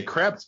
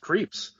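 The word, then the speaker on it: Krieps: Yeah, I want to say creps, but it's pronounced Creeps.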